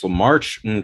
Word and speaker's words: LaMarche: Or like what Maurice LaMarche tried to do, trying to take over the world.